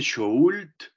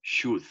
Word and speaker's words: should: No se dice should, ¿listo? Nada de pronunciar la L, simplemente should.